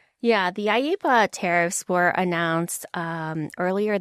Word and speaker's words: IEEPA: I think they say IPA. I E P A. That's kind of like a newer one for me. So, let's let's break that down. Yeah, the AIPA tariffs were announced um